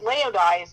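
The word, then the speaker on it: Laodice: Now, Leodise rhymes with paradise. But I got to tell you that Leodise has nothing to do with paradise.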